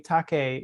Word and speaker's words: Takeyh: And then the article I was referring to by Ray Takei, and his name is spelled Takeyh, sorry.